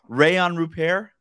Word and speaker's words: Rayan Rupert: I feel like I learned a lot about him, including how to pronounce his name. I said it wrong, and you very gently corrected me. You repeated Rayan Rupert.